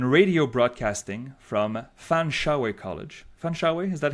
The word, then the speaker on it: Fanshawe: Oh, Fanshawe. Oh, there's an E at the end. You don't pronounce the E? Okay, so Fanshawe College.